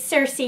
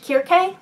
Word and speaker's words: Circe: I hesitate a bit on that pronunciation because that's the pronunciation that most people seem to be using for this book, but prior to the release of this book, I had believed that this character's name was pronounced Kirke, or maybe Kirki.